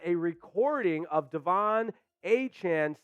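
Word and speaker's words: De'Von Achane: Dolphins rookie running back Devon a chain informed the team that moving forward he would like his name to be pronounced Devon a Chan so not the exact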